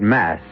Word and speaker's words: masque: The word mask, you should know, is spelled M-A-S-Q-U-E and means masquerade.